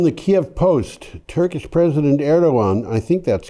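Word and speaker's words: Erdoğan: i would guess well you don't pronounce that g is erdogan oh okay i'm glad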